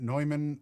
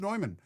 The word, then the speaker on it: Neumann: OG Quasi, you could argue that Neumann as a German brand is supposed to be pronounced the German way, but I don't care.